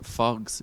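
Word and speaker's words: Faughs: uh falls ga club which weirdly in dublin they refer to it as foggs even though it's spelled f-a-u-g-h yes s obviously yeah yes they call it fox yeah that's where he's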